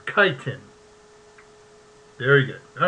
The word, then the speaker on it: chitin: Or chitin.